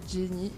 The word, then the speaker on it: Janye: Ok, donc sur les réseaux sociaux, donc Jenny, donc ça s'écrit J-A-N-Y-E.